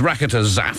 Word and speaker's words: Rakotozafy: program will know exactly what that is it's raketa zap I know I remember that you don't pronounce the why at the end of it